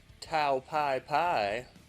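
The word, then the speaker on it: Tao Pai Pai: Just a little fun, silly little Tao Pai, which is the Japanese way to say his name. But in the American version, they call him General Tao or Mercenary Tao.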